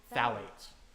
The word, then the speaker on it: phthalates: Phthalates. Valley. Oh, hell yeah.